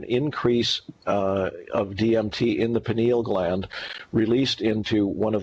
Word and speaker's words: pineal: It exists in the pineal gland. I believe it's pronounced pineal, P-I-N-E-A-L.